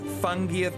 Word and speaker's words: fungi: weird luckily I have an advanced copy of fungiat alteroa a curious forage's Field Guide which I'll